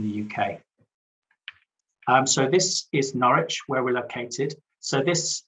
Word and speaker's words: Norwich: Norwich is spelt with a W, but you don't need to pronounce the W.